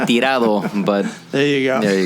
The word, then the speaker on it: Tirado: no okay you say I say it's actually tirado but there you go